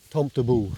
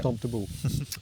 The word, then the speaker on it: Tomtebo: So that's how you pronounce it? Tomtebo. Yeah, okay. Tomtebo.